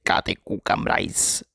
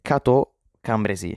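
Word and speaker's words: Cateau-Cambrésis: Ehm, sono il pitore del futuro e sto per correggere la pronuncia che ho detto nel passato perché non si dice kate cu cambrais, ma si dice katambresi, quindi si chiama così questa pace.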